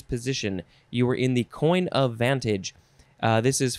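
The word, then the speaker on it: coign: it is three words coin of vantage but coin is spelled c-o-i-g-n coin of vantage um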